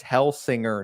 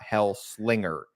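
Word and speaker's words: Hellsinger: metal hell singer wrong it's hell singer not hell Slinger to defend myself and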